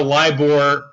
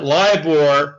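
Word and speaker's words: LIBOR: everybody's heard about uh everyone's heard about how liore uh was allegedly rigged everybody has probably heard about how lior was either broken or it's been fiddled with and the the first time that liore was ever reported to be broken or there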